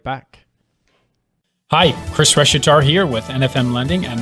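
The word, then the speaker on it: Reshetar: show in its entirety my last name is reshitar which is spelled a r-e-s-h-e-t-a-r why is that important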